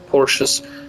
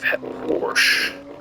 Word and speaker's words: Porsche: think Grand Turismo five Porsche as a select Porsche Porsche as a Porsche Porsche I think I'm right the reason I'm repeating is Americans say Porsche it's Porsche um you know what